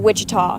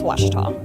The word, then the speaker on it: Ouachita: Back in Texas, everybody pronounces it Wichita, but really, it's Washita.